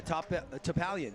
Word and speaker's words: Topalian: How do you say his last name? Topalian? Yeah, Topalian. Yeah, that's exactly right.